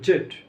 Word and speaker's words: Z: ভাবে আমেরিকান এবং ব্রিটিশ আমেরিকানরা জি উচ্চারণ করে আর ব্রিটিশরা হলো জেড ঠিক আছে জি বা জেড যেটা উচ্চারণ করে দুটোই সঠিক তাহলে আবার একবার রিপ্লাই